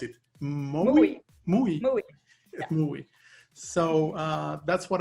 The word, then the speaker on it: Moowe: And finally, you are also an entrepreneur and co-founder, project lead, and developer in, how do you pronounce it? Moowe.